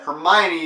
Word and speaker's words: Hermione: in the books and I finally realized that Hermione is pronounced that way when the movie first came